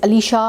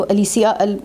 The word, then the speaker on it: Alicia: एलिशिया अगर हम उसको इंग्लिश में प्रोनाउंस करते हैं तो दैट इज़ अलीशा। और अगर हम उसको इटालियन में करते हैं तो अलीसिया।